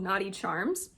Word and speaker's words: Knotty Charms: irritate my skin and her shop is called Naughty charms I can link it down below because it's spelled a little bit differently than how it sounds but because of that